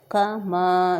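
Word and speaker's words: كما: گے۔ آگے ہے کما، کما تھوڑا سا میم کو کھینچیں گے، کما صلیت علی،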